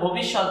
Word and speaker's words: ভবিষ্যৎ: অর্ধেক হচ্ছে খণ্ড ত, আর উচ্চারণের সময় খণ্ডটা ত এর মতোই উচ্চারিত হয়। আমরা শিখতেছি বাংলা উচ্চারণের নিয়ম, তাই আমরা খণ্ডতার পরিবর্তে আমরা ত দেব, যেহেতু খণ্ডতা ত এর মতো উচ্চারিত হয়। তাহলে ভবিষ্যৎ ভয়কারে ভ হবে, কারণ